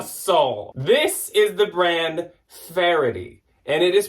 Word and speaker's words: Faherty: We say Faherty. We say Faherty. We say Faretti. I'm just going to say it like a pirate. It is Farity, like the word clarity.